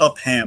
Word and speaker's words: Upham: Well, it's spelled Upham. Upham. Okay.